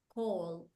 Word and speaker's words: called: Called. Look at the pronunciation. I called my mom. This verb, called, is the D sound.